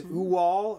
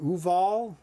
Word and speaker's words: Uwol: into the first game it is uwal or Ooval depending what country uh you're from and how you say it um so let's take